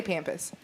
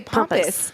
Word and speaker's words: Pampas: like this boho look how do you pronounce it I say Pampas you're right yeah and a lot of people a lot of people say pompous yeah grass and I'm like you mean Pampers grass and even some florists